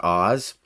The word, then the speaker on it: AHS: It's pronounced Oz.